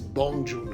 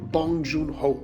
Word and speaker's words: Bong Joon-ho: the big surprise is Beom June who who for parasite bong joon-ho sorry that's right correct pronunciation what is most important